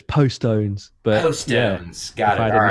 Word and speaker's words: Postones: It's Postones. Yeah, I mean, I'm from Postone. Birmingham in the UK, so it's Postones.